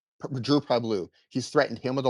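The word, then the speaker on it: Pavlou: How do you pronounce it? Yeah, Drew Pavlu. Drew Pabloo.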